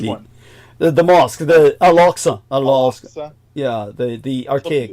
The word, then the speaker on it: Al-Aqsa: Al-Aqsa. Yeah, the archaic name. Hubli. Yeah. But it's spelled with a Q, so more, yeah. It's a guttural consonant.